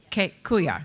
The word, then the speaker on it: Quoyouh: I'm going to butcher the name, even though Martina told me how to pronounce it. Quo-yoh. Quo-yoh, yeah.